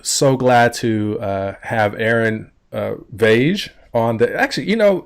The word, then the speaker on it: Vaage: your last name so my last name is pronounced vogue vogue yes tell you don't